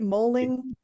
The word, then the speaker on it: Moehling: Did I pronounce that right? Moehling? You got it. I did? Oh, good. Yeah, thank heavens. perfect. Okay, I try to do that. Okay. Joshua Moehling is the best-selling author of the Ben Packard series.